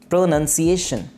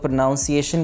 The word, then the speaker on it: pronunciation: Next word है जिसकी हम बात कर रहे हैं, वीडियो भी इसी से रिलेटेड है, प्रोनंसिएशन। जैसे अक्सर लोग प्रोनाउंसिएशन कहते हैं, प्रोनाउंसिएशन नहीं है ये है प्रोनंसिएशन।